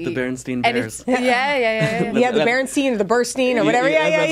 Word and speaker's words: Berenstain: The Berenstain or the Burstein or whatever. It's Berenstain. Yeah. And see, it's spelled Stain, but everyone always thinks it's usually Berenstain.